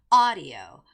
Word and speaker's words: audio: But that's wrong because you have to make that first syllable stress, which is audio. Audio. Okay? So it's not audio tour guide.